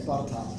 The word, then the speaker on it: Botetourt: So it's Botetourt? Botetourt. Botetourt. The R's They have some weird names over there. Yeah, the R's not even there. It's Botetourt. Okay, so the R doesn't get pronounced.